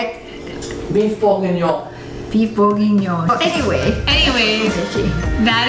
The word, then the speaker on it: bourguignon: Beef bourguignon.